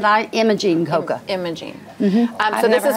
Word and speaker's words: Imogene: her name was when she didn't say I'm a jean she said I am a gene coca Imaging so this